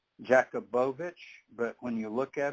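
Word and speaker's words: Jacobovici: doing this show and samka Jacob avici you pronounced his name he says jacobovich but when you look at it it's j-a-c-o-b-o-v-i-c-e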